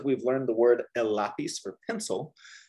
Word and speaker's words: lápiz: Leah, remember for learning like the European Spanish, you pronounce the Z or the C like a th, like you have a lisp, right? Lápiz.